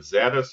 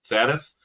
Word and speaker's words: SerDes: is mainly focused on, we call it SerDes, you call it SerDes. So the pronunciation is a little bit different here in Europe or in Germany or in Bavaria, whatever you like, and in the US.